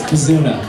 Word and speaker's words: Bazuna: It's Bazuna. Bazuna. Rhymes with tuna.